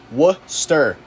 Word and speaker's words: Worcester: where it is it Worchester yeah I say we're just yeah pronounce Worcester what stir it's not that hard